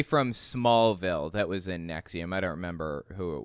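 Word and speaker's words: NXIVM: really famous people in Nexium too it it's spelled NX I VM by the by NX I VM it's pronounced Nexium so anyways um the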